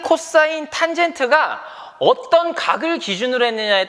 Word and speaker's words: cos: 빗변과 밑변을 짝지은 거를 우리가 뭐라고 하냐면요, COS라고 일반적으로 쓰고요. 얘를 코사인이라고 읽어요. 코사인.